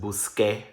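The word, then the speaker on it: busqué: It becomes QUE. That's pronounced busque, buscaste, busco, etc.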